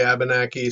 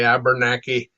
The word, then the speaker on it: Abenaki: Some say Abenaki, some say Abenaki, and some say Abernaki, and some say Abnaki.